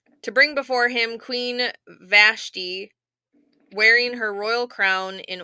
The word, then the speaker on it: Vashti: Brother Stedman said it's Vashti. That's what I thought. So was I saying it right? Vashti.